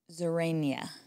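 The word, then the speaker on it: Xerania: I spelled it with an X, but of course pronounced like a Z. Mm-hmm. And I believe it was like Zerania, something like that.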